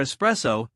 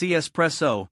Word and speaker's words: espresso: Now, for espresso, it's espresso, not espresso.